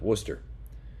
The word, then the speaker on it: Worcester: nuget is pretty good Worcester and that's how it's pronounced Worcester another bathroom horse um